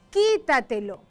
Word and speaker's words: quítatelo: Vamos a pronunciar esta palabra para saber dónde se hace la mayor fuerza y determinar dónde lleva la tilde o el acento y clasificarla. Quítatelo, quítatelo, quítatelo. Acá vemos que la fuerza está en esta sílaba, qui.